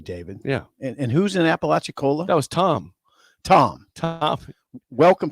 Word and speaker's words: Apalachicola: It's definitely Apalachicola.